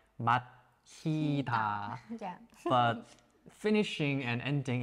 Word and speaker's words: 마치다: Yeah, like They nearly the same, like the same pronunciation, but when you write down, like it's different.